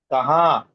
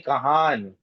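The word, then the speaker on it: कहाँ: Kaha. We don't say kahan.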